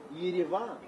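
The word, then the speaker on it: Yerevan: The capital of Armenia is Gavan or Yidavan if you want to pronounce it a little bit closer to Armenian or even Russian because those are the two main languages spoken in Armenia.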